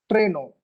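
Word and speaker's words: Trennung: Check how do we pronounce it. So Treno, it's Treno.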